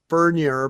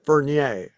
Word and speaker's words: Furnier: Well, his family pronounces it Furnier, but Alice pronounces it Fernier.